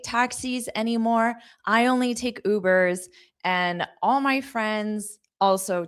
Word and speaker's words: Uber: Notice the pronunciation is that long oo. Uber.